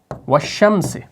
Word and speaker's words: وَالشَّمْسِ: کر ہم پڑھیں گے, اس لام کا تلفظ آپ نہیں کریں گے, ٹھیک ہے.